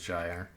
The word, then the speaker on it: Spellgyre: People say gyre, and I think they're just wrong, but it's also kind of a made-up word, right? Yeah, the dictionary says gyre.